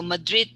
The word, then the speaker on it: Madrid: okay madrid madrid okay so madrid the stress is on the second so it's quick don't say madrid so all right thank